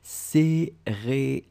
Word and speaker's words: céréales: Okay, remember pronunciation for céréales. We've got the accent aigu, so we go for the e, céréales.